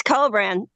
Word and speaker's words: Kobran: cin is that how you say it it's cobran um okay I have to but I have